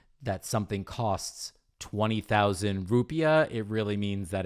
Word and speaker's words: rupiah: as the rupee the well it's called the rupiah oh but is it still is it pronounced rupee this is the currency of india indonesian indonesian